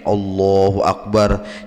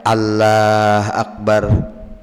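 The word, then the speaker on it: الله أكبر: yang bujur n bujur-bujur oh ini bacanya k ini takbir tuh yang bujur n kayak ini Allahu akbar Jangan dibaca Allah akbar nah jangan bujur-bujur ya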